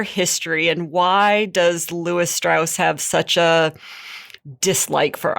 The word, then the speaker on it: Strauss: down which is Louis straws yes so what is their history and why does Louis Strauss have such a dislike for Oppenheimer well Lewis liked to pronounce his last name as straws oh sorry straws it